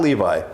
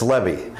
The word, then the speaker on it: Levy: Not Levi. It's Levy. I drove my Chevy to the Levy.